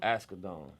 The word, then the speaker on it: Asghedom: ASGHEDOM.